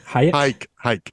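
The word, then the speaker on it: Huyck: Hayek according to Marcia Hayek hike I like hiking like hike um according to Marsha Lucas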